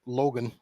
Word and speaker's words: Logan: From Boston Logan, which rhymes with Hogan International?